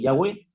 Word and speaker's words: Yahweh: originales es Yahweh pero yo diría que la pronunciación del nombre de acuerdo a las escrituras hebreas es Yahweh porque si lo vamos a leer de acuerdo